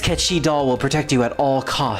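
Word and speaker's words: Cait Sith: see a very tiny Kachi doll I say catchy because that's how it's supposed to pronounce be pronounced in Gaelic but it's a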